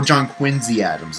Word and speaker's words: John Quincy Adams: Yeah, or John Quincy Adams is how it's actually pronounced.